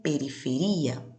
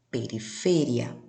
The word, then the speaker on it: periferia: No português eu digo periferia, pero en la lengua española, periferia.